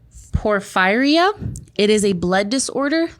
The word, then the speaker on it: Porphyria: No, it's Porphyria.